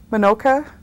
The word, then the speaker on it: Minoka: would you give us your full name and spell it for us please my name is r osa manoka m-i-n-o-k-a is my maiden name my married